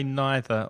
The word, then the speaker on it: neither: neither so differently well you can say it either or either way doesn't matter with either and either or neither and neither it doesn't matter there are two pronounciations for the same word maybe it's because of